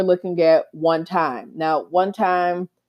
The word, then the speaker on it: 1TYM: Now, one time, they spell it with the number one and then a capital T YM, it is pronounced one time.